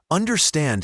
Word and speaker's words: understand: Understand has the stress on the last syllable. Understand. Make sure the ND at the end is clear.